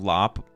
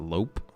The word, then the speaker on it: Lop: Obviously a match of lop rabbit with drooping ears and bunny. Should be lop, not lope.